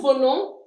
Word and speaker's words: venons: Nous venons. We don't pronounce the s.